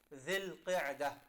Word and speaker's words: Dhul Qa'dah: These linguistically correct pronunciation is Dhul Qa'dah.